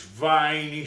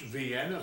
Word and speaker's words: Vienna: here in the South we call these viny sausage that's the way we've always said it even though it's pronounced Vienna sausage we call them Vines and that's just the